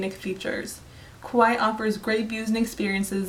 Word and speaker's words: Kauai: Hawaii Kauai offers to tourists the island of Kauai is actually pronounced Kauai and the native Hawaiian language and is the